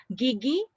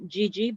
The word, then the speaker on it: gigi: okay so gigi um when in italian we pronounce as a soft g yeah so this is g-i-g-i so it is not the malay pronunciation when we are reading um the gigi yeah so for our chinese friend in from china gigi means tooth in malay but it's pronounced in a hard way yeah so it's not gg but it's a gigi okay ken all right